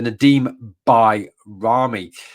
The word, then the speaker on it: Nedim Bajrami: Nadim B byamy sorry let's get his pronunciation right so Nadim by Ramy um now bami um